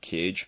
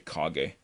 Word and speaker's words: Kage: A lot of people pronounce it Cage, but it's actually Kage.